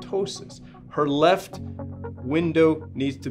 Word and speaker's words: ptosis: this is called ptosis protip silent P called ptosis her left window needs